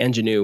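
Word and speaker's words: Angénieux: And caveat, we use the, I remember how to pronounce it. It's the Ingenue.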